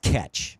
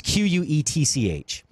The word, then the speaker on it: quetsch: And it's pronounced catch, by the way. It's Quetch.